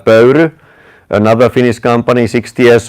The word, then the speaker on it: Pöyry: How do you pronounce it? Pöyry. Oh, Pöyry.